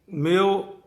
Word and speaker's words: Mayo: लेकिन जब आप इंग्लिश के अंदर लिखोगा जो जुबान है तो वह के अंदर या को जो तलफ़ुज़ है या की जो प्रोनाउंसिएशन है वो मेयो की है, MAYO।